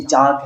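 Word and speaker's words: chalk: तो ब्रिटिश में जैसे CHL की चाक है, इसको चाक पढ़ लिया, आई कैन चोक, ठीक है, या TALL टाल नहीं, इट्स टोल, या WL के वॉक इट्स वॉक.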